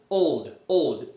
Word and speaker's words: old: Então, imagina que você fala olodum, Fala que fala olodum, só que só olod. Aí você vai tirar o O depois, ó. Olod, old. É isso, old. Quando você conseguir pronunciar old, old.